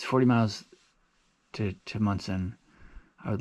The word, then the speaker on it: Monson: o n s o but I think it's pronounced mson not Monson and uh there's a hostel called Shaws there